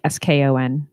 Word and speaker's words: scone: It's not scone. It's scone. Scone. Like SKON.